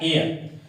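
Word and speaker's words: heir: है, ऑनेस्ट, और यहां पे क्या आता है, एयर। कहने का मतलब है अ से लेकर के अह तक के अंतर्गत हिंदी प्रोनाउंसिएशन किया जा रहा है।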